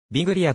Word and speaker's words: Biglia: 所属ポジションはミッドフィールダービグリアという表記がスペイン語の発音により近いビリアの表木は彼がイタリア系であることからイタリア語の発音を反映したものとなる ar 編ティノスジュニアーズ